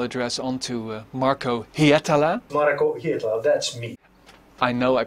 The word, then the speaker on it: Hietala: Marco Hietala, that's me. I know I pronounce it right this time.